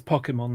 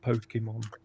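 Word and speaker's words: Pokémon: this one before yeah it's Pokemon not Pokemon you know well then they should bloody well spell it that way well they do no they don't well let's put this way it's Japanese yeah so that would be an a not an o well it got Americanized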